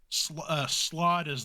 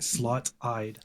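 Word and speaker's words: slaadi: it's a slot eye so s-l-a-a-d-i slot is the singular slot I is like the plural okay this whole time I thought you're saying slot eyed that's what I thought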